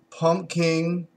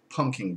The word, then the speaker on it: Pumking: It is the Southern Tiers Pumking Imperial Beer. Or should I say Imperial Pumping Beer. Now that is spelled Pumking without the P in the middle.